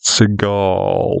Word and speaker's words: Seagal: year of 1952 divon Fred Seagal which he later decided to pronounce seal because he thought it sounded Superior and he wasn't